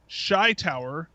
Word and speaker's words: Shytower: And the fact that it is Shy Tower, because you know that you probably would have moved that T to the first syllable if you hadn't have.